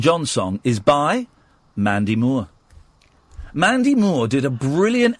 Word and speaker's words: Moore: Moore? Mandy... Well, that's how it's pronounced, mate. Moore. Okay. Mandy Moore. Would you like some Moore tea? No, but her name is spelled M-O-O-R-E. Moore.